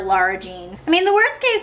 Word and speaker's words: Lara Jean: Larry Jean Laura Jean you would think after my watching the movie a bajillion times cuz it's my go-to comfort movie now that I would know how to say her name but I still say Larry Jean I just have always called her that and I don't think I'll ever get used to calling her Lara Jean I mean the worst